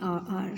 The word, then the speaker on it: hour: Second number, you are late by an hour. Same condition is here, H is silent and pronunciation is A.